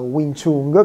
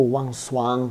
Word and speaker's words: Wing Chun: questi esercizi è proprio il Wing Chun, che non si pronuncia così, ora la pronuncia esatta non me la ricordo, però deve essere tipo Wang Swan, qualcosa così.